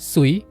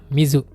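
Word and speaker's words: 水: Onyominya sui, kunyominya mizu.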